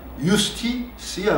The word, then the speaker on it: justitia: 옛날 발음은 고대 라틴어에서는 무슨 지저스를 예수 그러듯이 유스티시아 그럽니다. 유스티시아. 그 유스티시아, 주스티티아, 그 정의라고 번역되는 것이